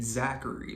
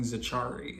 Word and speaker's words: Zachary: and I realized oh he was saying my name Zachary but he saying zachari and I've never heard that before and I think that's really cool that someone think my name is pronounced zachari um edw was great